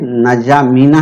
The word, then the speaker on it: नजामीना: ठीक है, और ये ढाका है, और इसके बाद में नजामीना है, ये नजामीना है, डी साइलेंट है, नजामीना है, और इसके बाद दुशानबे है, फिर मस्कट है।